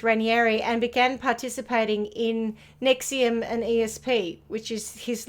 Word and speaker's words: NXIVM: yes not to be not to be confused with the uh antacid pill as spelled differently so this is spelled nxivm why use actual english yeah